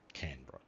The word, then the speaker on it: Canberra: Canberra. That's how Australians say it, or some of us say it.